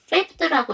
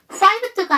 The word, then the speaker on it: fifth: fifth라고 읽어주셔야 돼요. fived가 아니에요.